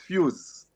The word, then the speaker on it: Fuze: Okay, Is the it first thing that pronounced Fuze inspired or me, Fuse? Fuse, it's Fuse.